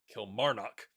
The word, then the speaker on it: Kilmarnock: Old lady plays left a comment that said the emphasis on the syllable is in the middle. Kilmarnock.